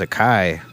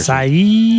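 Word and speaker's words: açaí: I thought it was a kai.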